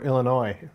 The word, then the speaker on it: Illinois: Or Illinois, not noise.